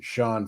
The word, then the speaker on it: Sean: It's Sean Faden. You said it just Sean right.